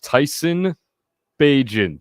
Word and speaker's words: Bagent: Badgent or whatever his name is. Tyson Bagent.